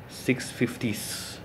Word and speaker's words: 650S: 650s, that's how you should pronounce that.